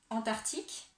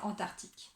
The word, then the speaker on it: Antarctique: Et c'est pareil pour l'océan Antarctique, parce que du coup, on entend le mot arctique dans Antarctique.